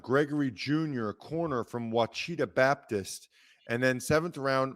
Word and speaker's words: Ouachita: Oh, Ouachita. That's right. That's right. That's right. It's spelled Ochita.